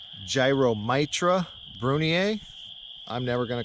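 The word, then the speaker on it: Gyromitra brunnea: aren't morels these are the proper pronunciation is gyromitra brunier I'm never going to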